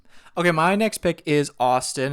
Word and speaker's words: ASTN: Okay, my next pick is Austin. It's spelled ASTN.